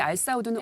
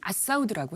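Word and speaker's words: Al Saud: 근데 알사우드는 아랍식 발음으로는 아사우드라고 해요.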